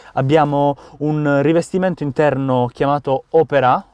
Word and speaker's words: Opera: Abbiamo un rivestimento interno chiamato Opera, ovviamente con l'accento sull'A perché è un'auto francese, pelle in colorazione bordeaux